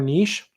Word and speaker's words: niche: the chat refresh yes it is either pronounce niche or niche either are acceptable in general I use